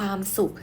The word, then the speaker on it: สุข: เห็น ไหม คะ ลูก วัน ศุกร์ ข้าว สุก ความ สุข สุข สุข สุข อ่าน ออก เสียง เหมือน กัน ทั้ง 3 ตัว เลย นะ คะ แต่